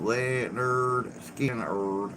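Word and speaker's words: Lynyrd Skynyrd: homeland in palestine 1973 skinner releases their first album pronounced leonard skinner 1928 my weekly reader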